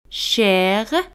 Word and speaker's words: cher: Caro en francés se dice cher, cher. Al final de una palabra, las letras ER en general se pronuncia E. Al final R no se pronuncia, pero a veces la pronunciamos como cher, cher.